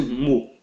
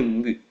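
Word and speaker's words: μῦ: Alguns chamam de Mu, mas a verdadeira pronúncia dele é Mi.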